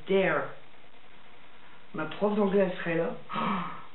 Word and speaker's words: Dare: Attention, ça se prononce Dare.